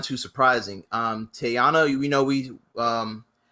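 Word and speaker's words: Teyonah: not too surprising um tayana you we know we um how's you how do we say her name i don't i really do not want to mispronounce her name oh it's it's tiana paris yeah tiana you know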